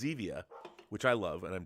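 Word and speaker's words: Zevia: the way rob uh zivia i mean xevia is how i pronounce it i don't know if that's it's not zivi it's xevia which i love and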